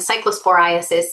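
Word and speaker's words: cyclosporiasis: Cycllospora is the parasite and cycllosphorasis is the disease it causes.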